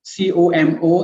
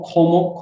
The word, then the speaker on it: COMO: calls como hotel resort c-o-m-o it means it it pronounced como it's not homo como means christina or